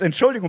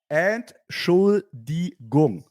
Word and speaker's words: Entschuldigung: It's Entschuldigung, but okay, it's fine. That's fine. You said it fast. You said it too fast. Do it again. Entschuldigung.